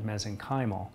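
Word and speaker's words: mesenchymal: in regenerative medicine is the meenal stem cell some people pronounce that mezen kyal and that is um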